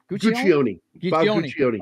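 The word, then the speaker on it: Guccione: How do you pronounce this Bob Guion? Is that right? Gucci Guion. Okay. So the E is pronounced at the end of it.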